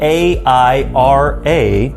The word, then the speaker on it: Aira: Now, Aira, spelled A-I-R-A, pronounced Aira, not Era, like maybe your iPhone will, but Aira is kind of like Be My Eyes, only on steroids.